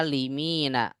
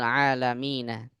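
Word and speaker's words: العالمين: seperti ini itu kan ada cara baca yang lain yaitu a ini dibaca Alim bisa aja dibaca alimina orang-orang yang berilmu tapi kalau di kalimat ini enggak mungkin berilmu karena yang dimaksudnya adalah alam semesta berarti cara bacanya bukan Alim tapi alam rabbil AlaMina Nah itu semuanya dapatnya dari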